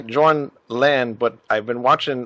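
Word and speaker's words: Jørn: So it's more like a ö. Oh, okay. So it's actually more like it's like in the Vikings, Björn, Ironside. Oh, all right. So it's Jorn actually when if you pronounce it right.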